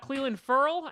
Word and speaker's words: Clelin Ferrell: We also have Clelin Ferrell, and yes, that is how I say his name because I looked it up a whole bunch of times.